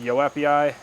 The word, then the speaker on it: joepii: It's the philodendron joepii, or I think it's pronounced yoepii.